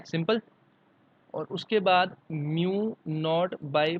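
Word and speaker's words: mu naught: अभी अगर म्यू नॉट है, this is pronounce as म्यू नॉट।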